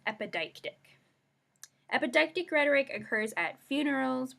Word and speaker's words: epideictic: And I'll say that again so we can get our pronunciation. It's epideictic.